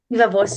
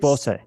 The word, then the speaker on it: viva voce: Is that how you pronounce it? Viva Voce, yeah. It's Voce.